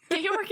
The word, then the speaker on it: Georg: By the way, I almost just called him Georg. His name's not Georg, it's Gabe. Georg? What kind of monster romance are you reading? Georg is like the German version of George.